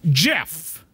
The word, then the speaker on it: GIF: peanut butter or a g like gift it's pronounced Jeff period the end that's final end of story